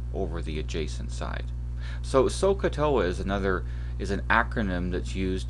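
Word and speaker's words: SOHCAHTOA: Now, what's written at the bottom, and this is pronounced SOCATOA, it's an acronym for remembering which ratio each of the trig ratios are, which ratio of sides.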